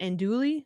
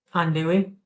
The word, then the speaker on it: andouille: Is it andouille? How do you say that? I feel very out of touch. Andouille.